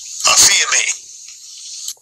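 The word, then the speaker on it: ἀφίημι: Aphiemi. Yeah, and that's the pronunciation in the Greek for this word forsake.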